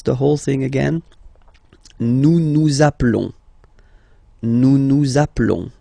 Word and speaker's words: nous nous appelons: Nous nous appelons. Nous nous appelons. Okay, final S doesn't exist.